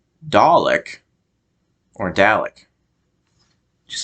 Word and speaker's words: Dalek: more American Way a more natural for me because I'm American to say it is Dalek so that might sound